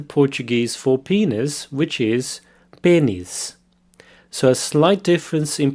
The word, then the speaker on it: pênis: for penis, which is pênis. So a slight difference in pronunciation there. The E has a circumflex accent over it, which makes it an E sound. Pênis. Pênis.